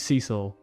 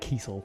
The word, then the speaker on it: Cecil: Like there's no other way. Cecil. In there, she used to call it like Kiesel. Yeah, not that.